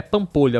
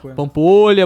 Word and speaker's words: Pampolha: É Pampolha a pronúncia, né? Pampolha.